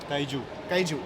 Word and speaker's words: kaiju: of Titans kind of movies, Godzilla, all the Kaiji movies. Did I pronounce it right? Kaiju, yeah, Kaiju movies, they have a pattern, okay,